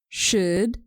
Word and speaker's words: should: could let me repeat should would could make sure you don't pronounce the L in these three words some people do this